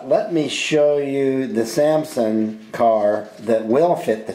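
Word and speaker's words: Salmson: We're calling it a 1932 Samson. I think that's how you pronounce it, S-A-L-M-S-O-N, that's what we're gonna call it.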